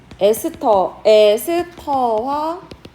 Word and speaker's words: 에스터: 에스터화 반응. 자, 에스터화 반응은 우리가 이제 에스테르도 자, 이거를 에스테르라고 읽지 않고 이제부터 에스터 이렇게 읽는 거예요.